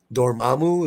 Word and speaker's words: Dormammu: Dormammu. I have a hard time saying that. Dormammu? I always have a hard time saying that guy's name. Dormammu, is that how you say it?